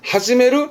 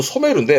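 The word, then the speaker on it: 初める: 하지메루 아니요. 하지메루가 아니고요. 이때 발음은 소메루입니다. 하지메루는 처음가 아니라 처음 시을 씁니다. 한자 다릅니다. 요거 발음은 소메루인데 많이 보진 않아요.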